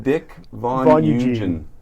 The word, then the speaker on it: Dick Voneugen: You just learned how to pronounce his name, Dick Voneugen.